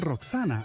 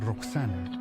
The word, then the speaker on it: Roxana: Los griegos lo pronunciaban Roxana, pero puede que originalmente fuera Vakshana, lo que significaría que pertenecía a los Vaksu, un antiguo nombre para el río Oxus.